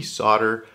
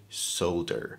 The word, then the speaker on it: solder: everything about soldering is is it actually solder or is it solder why don't we say the l in the word solder at least as americans there's a reason the